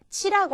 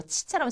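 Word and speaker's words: ち: 치라고 하는 거는요, 이 발음은 왜 이럴 때 있죠. 무슨 누가 이렇게 말도 안 되는 소리 같은 거 했을 때 치, 웃기고 있네. 이렇게 치 라고 콧방귀 낄 때 있잖아요. 그때 발음과 비슷합니다. 그러니까 이거를 치 하고 발음하지 마시고요. 치 하는 식으로 파열하도록 그냥 놔두시면 됩니다. 이게 치의 가장 일본인과 비슷한 발음이 되겠습니다.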